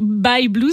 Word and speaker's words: Bye Blues: pouvez nous redire by blues by blues alors by blues ça c'est qui ça s'écrit by y e B l u e